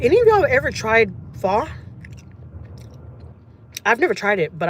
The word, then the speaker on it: pho: Because I ain't gonna lie, I used to call it po. And then one time my boss was like, "No, Jackie, it's pho."